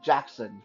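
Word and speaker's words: Jaxxon: going to call him Jackson from here on and yeah that's not spelled like Michael Jackson that's spelled like j-a-x x o n Jackson okay so who is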